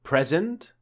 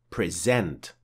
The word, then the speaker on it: present: Do we say present or present? Record or record? Well, both pronunciations in both cases are indeed correct. A present means a gift, and present is a verb that means to show or make something known.